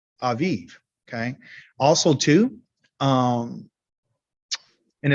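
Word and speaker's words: אביב: is in hebrew yes in vib but it's pronounced aviv okay and it means the um first uh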